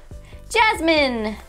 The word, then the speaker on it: Jasmine: Jasmine. There's a silent letter. A silent letter. Yes, a silent letter. Let's see. But you don't have to whisper. Okay. That's an E. E on the end. Jasmine!